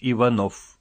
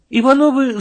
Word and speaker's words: Иванов: его фамилия несла ударение ударение у Николая Константиновича падала на последний слог Фамилии вычиталась Иванов Дело в том что Ивановых то есть людей несущих ударение на последнем слоге своей фамилии необходимо отвечать от их однофамильцев у которых ударение падает на второе слог Иванов и Иванов ничуть